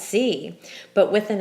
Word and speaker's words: si: C and C well the accent Mark isn't there for pronunciation because it's one syllable there's only one way to say see and that's C but with an accent